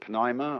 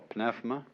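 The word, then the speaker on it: pneuma: that breath is life the Greek word uh you may pronounce it Pima or pfma uh is the same as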